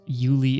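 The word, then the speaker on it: Euly: Also, just so everyone knows, Yuli is spelled E-U-L-Y. Oh, okay. Yuli. Yuli.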